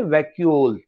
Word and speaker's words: vacuole: These okay, are तो pronunciation क्या बताया मैंने? वैक्यूल.